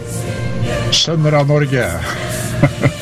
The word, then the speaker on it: Sønner av Norge: And just a show note, if you will, in the background, you're listening to the Sons of Norway, and in Norwegian, that is pronounced Sønner av Norge.